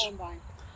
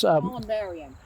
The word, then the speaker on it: columbarium: Columbine. No, Columbine's a place in Colorado. So. No, I think that's how you Say it again. Columbine. Okay. It's where it's Columbarium.